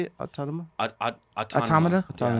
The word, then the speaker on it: Automata: Autonoma? Automata? Automata? Yeah, Automata.